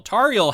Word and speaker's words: Tauriel: Tauriel, yeah.